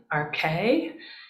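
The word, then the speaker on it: ἀρχῇ: So if we see that the first words are in, RK, that's how you pronounce this second word here, RK.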